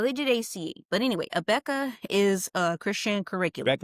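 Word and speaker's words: Abeka: So it's spelled A B E K. Christian curriculum. Okay. So it's called a Becca.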